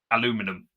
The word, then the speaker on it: aluminium: to the olive branch there's an extra syllable please do not follow in the trend of americans trying to pronounce aluminium okay i don't know how they pronounce aluminium aluminum idiots oh oh do you